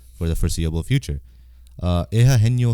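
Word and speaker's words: Eugenio: the foreseeable future uh eha heno Suarez that's how you say it I'm pretty sure that's how you pronounce Ito Suarez um link to the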